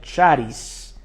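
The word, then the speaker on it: χάρις: palabra gracia viene de un vocablo griego que se pronuncia charice así se escribe sh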